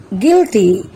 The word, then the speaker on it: guilty: guard guitar guess tongue guilty building in these words which letter is silent yes U is silent in every word let's find out some